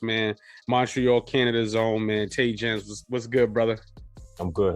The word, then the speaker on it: Taigenz: It's Taigenz.